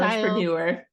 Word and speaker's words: Stylistpreneur: Stylistpreneur.